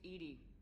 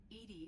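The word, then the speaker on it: EDI: the airlock is a jar where you named Ed Ed is thetic pronunciation of e that is an acronym for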